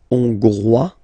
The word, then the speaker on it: Hongrois: Okay, Hongrois, Grois, Hongroise. Okay, so here final S not pronounced for the masculine form, and then you pronounce it here for the feminine form.